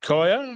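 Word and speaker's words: Kiah: And another one of our females in number 7112 is that Kaya? K-I-A-H, Kaya? Is that how you pronounce it? Yeah.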